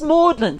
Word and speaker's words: Magdalen: Magdalene pronounced Mlin.